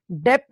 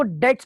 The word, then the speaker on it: debts: ठीक है, B silent होता है, डेप्ट नहीं पढ़ते, इसको डेट्स पढ़ते हैं।